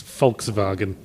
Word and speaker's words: Volkswagen: the way they pronounce Volkswagen. Because See, it went to sleep. Germans pronounce their W's as V's, they're notorious for it. But did you know they also pronounce their V's as F's?